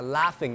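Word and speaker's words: laughing: ๆ (พิธีกร) หัวเราะ (พิธีกร) ถ้าเป็นภาษาอังกฤษจะใช้คำว่า ลาฟฟิง นะครับ มีตัวจีกับตัวเอชผสมกัน แต่ไม่ได้อ่านว่าลา ลอ นะครับ จีกับเอชก็เป็นตัวเอฟนะครับ ก็กลายเป็น ลาฟฟิง ลาฟฟิง คือ หัวเราะอย่างนี้ (พิธีกร)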